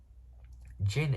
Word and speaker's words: Jin: So Jin is spelled J-I-N, not G-I-N, as in gin and tonic. Not as a drink.